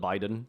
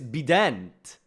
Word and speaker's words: Bident: Its name is No, it's Bident. Is how you pronounce it, actually. It's French. It's not Biden.